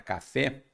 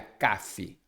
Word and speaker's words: café: mais força Por exemplo quando eu falo a palavra café Não há dúvida que a força atômica está no fé se fosse no k não seria café seria Cafe então por isso que